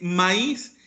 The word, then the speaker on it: maíz: que les pongo magic mais no tiene acento y como no tiene acento se pronuncia más es la pronunciación correcta de maíz es maíz entonces donde necesita el